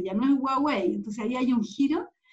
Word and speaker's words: Huawei: y ahora hablan de huawei llaman huawei entonces ahí hay un giro que también tiene que ver con cómo conocemos a china porque estamos aprendiendo que se pronuncia de una manera distinta más guau los 4 nos acercamos